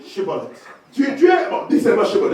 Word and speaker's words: Shibboleth: They said to him, say now, Shibboleth. Il dit, bon, dis Shibboleth. And he said, Sibolet.